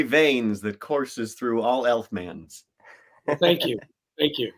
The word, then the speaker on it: Elfman: Yeah, there's the talent is in the very veins that courses through all Elfmans. Well, thank you, thank you, thank you. Absolutely. Am I pronouncing that right?